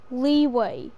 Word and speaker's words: Liyue: Well, the way that I say it is different to how they say it. Leeway. It's literally spelled leeway.